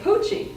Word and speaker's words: Pucci: he came up with the name Pucci which rhyme with Gucci and this really worked